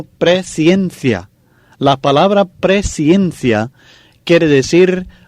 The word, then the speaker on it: presciencia: Fíjense muy bien en la pronunciación de la palabra. No es presencia, sino presencia.